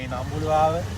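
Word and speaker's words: Ambuluwawa: - Yeah, it's Ambulawala.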